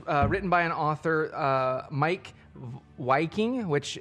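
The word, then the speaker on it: Wiking: by an author Mike waiking which it's spelt his last name spelt with a W but I believe it's pronounced with a V so it's like Viking and which is ironic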